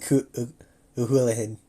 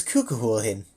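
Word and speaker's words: Cú Chulainn: Kuhulin? I could have sworn it was Kukuhulin. Like, I could have sworn there were two Ukuza in there. Kuhulin? Nakne era. Kuhulin. At the lake. Okay. Hull, like the hull of it.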